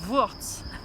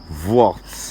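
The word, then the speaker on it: Vuorz: ou soit on le dit en romanche, c'est Worts. Worts. Worts. V-U-O-R-Z, voilà, typique romanche. Toutes ces syllabes ensemble.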